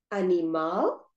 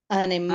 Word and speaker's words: animal: And the previous one, animal. They both have 3 syllables and the stress is on the last syllable. So we have the papel, animal, natural.